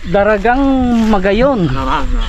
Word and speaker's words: Daragang Magayon: Ano pagkabigkas? Daragang Magayon.